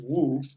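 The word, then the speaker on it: 巫: In fact, in the most ancient Chinese calligraphy, the character for shaman, which is pronounced Wu, is this.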